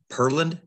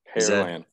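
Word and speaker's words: Pearland: a lot of people a lot of people use Pearl like like the jewelry but it's pair like a like the fruit gotcha yes sir well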